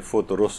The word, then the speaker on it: فطرس: تو دو فے کے اوپر بھی پیش ہے اور رے کے اوپر بھی پیش ہے، یعنی فطرس اس کو صحیح طور پر پڑھا جائے.